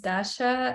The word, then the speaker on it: Dasha: everyone my name is Dasha and I'm from Russia I'm from Moscow and we always laugh at you that it Rhymes right Dasha from Russia uh okay uh so